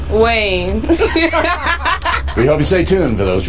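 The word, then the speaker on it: Kaine: the vote Hillary's VP candidate is Tim 90 rhymes with Bain Tim Wayne we hope you stay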